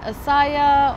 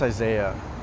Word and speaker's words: Isaiah: Is it Asaya or? It's pronounced Isaiah. Oh, and do you go by that or?